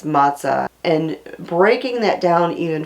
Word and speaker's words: matzah: simply unleavened bread and the word matah could be spelled different ways depending upon the culture where you're reading it um the boxes of it that you buy at the store spell it one way the Bible spells it another way but no matter the spelling it's matah and breaking that down